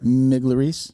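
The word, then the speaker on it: Migliarese: Miglerice.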